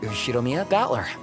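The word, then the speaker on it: Ushiromiya Battler: read the first heart is my family name ushiromia that's a fairly plausible Japanese pronunciation so far the problem is my given name battler is the name of the characters for fight and person and it's pronounced thatler put it all together and you've got ushiromia battler pretty crazy right I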